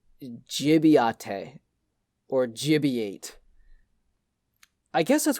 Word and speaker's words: Gibiate: So it's pronounced Gibiate, and Grant's not going to pronounce it right.